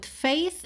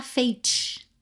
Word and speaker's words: faith: Fait nada de falar fate, tá? Porque th é th, é um som mais parecido com f do que com t, tá?